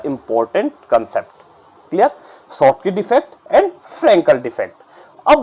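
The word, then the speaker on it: Schottky: पहले वाले को बोलते हैं शॉर्ट की डिफेक्ट, शॉर्ट की डिफेक्ट बोल दिया इसको, ठीक है ना। और स्कॉट की मत बोलना क्योंकि एस साइलेंट रहता है, तो इसलिए बोल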